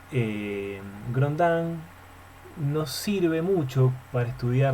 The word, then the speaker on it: Grondin: Así se pronuncia el Grondin.